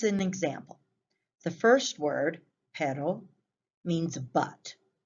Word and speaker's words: pero: like your pet dog the first word you say it with a simple tap sound similar to the english letter d pero the second you trill